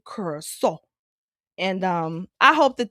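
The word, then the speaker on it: Curaçao: I thought about that while I was out in Curacao. That's how the locals pronounce it, Curacao.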